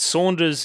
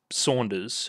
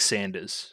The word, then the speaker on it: Saunders: I've already kind of addressed but but but Saunders is actually pronounced Saunders I I said it right the first time it's just like the japaneseness of it all getting through and making it sound like Sanders so I mean they don't really have an